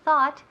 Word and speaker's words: thought: Remember, TH, sacando la lengua un poco, y thought. Ought. Nunca thought ni thought.